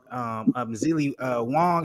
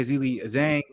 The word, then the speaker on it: Zhang: Some would say Zili Wong, excuse me if I'm saying it wrong, Zili Wing. Some would say that. Zhang, excuse me. Someone say Zili Zhang.